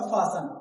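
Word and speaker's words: fasten: जैसे यहाँ लिखा हुआ है फासन, क्या फासन, फॉसन, फॉसन, तो यहाँ पे टी क्या है, साइलेंट है।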